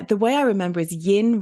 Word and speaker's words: yin: And so in Feng Shui, yin is the sort of, the way I remember is yin rhymes with dim.